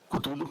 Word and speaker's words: Cthulhu: Yo le digo, Cthulhu, esa es la pronunciación según nos corrigen, pero y lo compré y quedé fascinado.